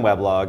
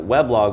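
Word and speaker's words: weblog: um said we should instead of pronouncing it web log we should pronounce it we blog U so he actually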